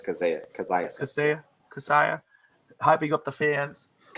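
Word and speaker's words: Kaseya: It's Kazaya.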